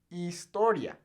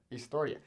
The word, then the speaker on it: historia: ace which is h now the h in spanish is silent so right here we have this word historia meaning story or history